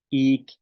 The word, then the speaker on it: 'iik: ak, tortuga, al, pesado, ik, chile. Pues ahorita solamente las palabras del maya. Ik, al, ak, kai, yaab, ayin. ¿Ok? Entonces estas son las pronunciaciones de la I y la glotal.